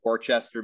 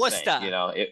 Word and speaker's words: Worcester: We worked somewhere just outside of Boston recently, Worcester maybe. Oh Um, no, you just made yeah, everyone angry in Boston. yeah, it wasn't the same. Worcester.